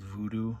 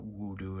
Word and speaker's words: Voodoo: Zombie 2 it's called Voodoo in Germany the W's are pronounced as a v so it's not wodoo it's a voodoo this is the uncut